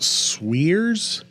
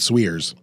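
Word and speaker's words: Suire's: I think it's pronounced Swears Grocer. Suire apostrophe S. I think they pronounce it Swears.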